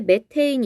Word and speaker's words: 메테인: 자, 그 다음에 메테인 있죠? 메테인 동그라미 쳐주시고, 메테인은 그냥 메테인이라고 읽고 메탄가스라고 들어보셨어요? 자, 메탄가스를 우리가 영어식 발음으로 하면은 메테인이 되겠습니다.